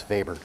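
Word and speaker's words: Weber: I say it is vber because it's a German name and that's how you pronounce vber in German so vber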